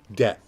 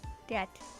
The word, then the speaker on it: debt: $100,000 it's in Dept debt debt debt the B is silent yeah I keep forgetting